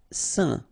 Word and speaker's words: saint: Saint. Okay, combination of A, I, N phonetically will give you this un pronunciation.